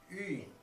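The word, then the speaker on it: 云: All right, yu plus in is pronounced yun. If we give it a rising tone, yun, we have the word for cloud in Chinese.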